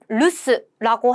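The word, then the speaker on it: 留守: 바로 루스라고 해서 부제 중 집에 아무도 없음이라는 단어를 단어였었죠. 서 머무를 류자에 지킬 수 루스라고 읽는다.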